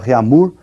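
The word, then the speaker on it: Réaumur: é a escala reamur que nós vamos pronunciar reamur né que a portugues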